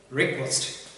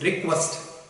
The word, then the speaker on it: request: And today let's start our class with the word request. And the pronunciation of the word is request, not request.